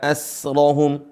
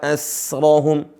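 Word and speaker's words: أَسْرَهُمْ: Nahnu khalaqnahum wa syadadna asrahum. Sinnya enggak qalqalah, bukan asrahum. Nah, itu yang benar.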